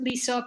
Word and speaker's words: LISA: So you can pronounce it Lisa, you can pronounce it Lisa. People do both.